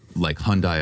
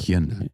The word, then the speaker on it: Hyundai: Hyundai Elantra.